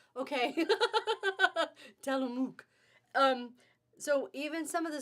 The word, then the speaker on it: Tillamook: Virginia says it's pronounced Tillamook. Okay. Tillamook.